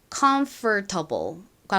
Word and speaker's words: comfortable: 자, 그런데이 단어를 미국식 원어 발음으로 발음할 때는 정석대로라면이 or 부분을 정확히 발음해서 comfortable과 같이 발음을 해야 하지만 발음의 편의를